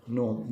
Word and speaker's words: gnome: जी से स्टार्ट होता है ये, GNOME, लेकिन इसे प्रोनाउंस कैसे करते हैं हम? नोम, जी साइलेंट है इसके अंदर.